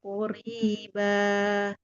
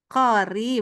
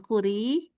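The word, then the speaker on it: قريبا: Wa ma yudrika la'alla sa'ata takunu qoriba. Kori, bukan kuri.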